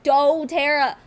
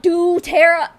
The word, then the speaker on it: doTERRA: Living also it's Doterra there's the little line above the O meaning you pronounce it as the letter oh doe Tara not do Tara I hate it when people say it like that I'm like dude that's what the line means it means you pronounce it with the oh okay anyway yo is